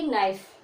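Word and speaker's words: knife: तो के का जब उच्चारण नहीं करोगे जिसको बोलो तो क्या बोलोगे, नाइफ।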